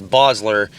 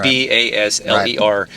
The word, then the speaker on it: Basler: and called you back Bassler or Basler cuz that's what people say but it's actually Bosler but b a s